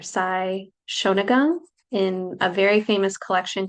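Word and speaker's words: Sei Shōnagon: It's a Japanese form that I guess was made popular, relevant from like ages ago from I believe it's pronounced Sei or Sai Shonagon in a very famous collection called The Pillow Book.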